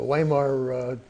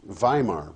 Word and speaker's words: Weimar: Well, that republic, Weimar, by the way, W is pronounced like a V.